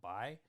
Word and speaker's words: Bai: So even though it's spelled P-A-I, it's still Bai.